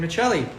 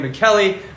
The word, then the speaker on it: Michelli: thank you also to Megan Michelli uh sorry that's how Syria pronounces it Megan McKelly my sister uh and I